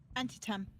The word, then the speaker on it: Antietam: Antietam. Antietam? Yeah, exactly. I don't think it's pronounced the way it reads.